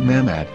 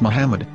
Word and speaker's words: מחמד: According to Ben Yehuda's Hebrew-English dictionary, it is correctly pronounced as Muhammad, not Mamad. So how we're going to know for sure if it's pronounced as Muhammad, the Muslim prophet, or as Mamad, a random Hebrew word?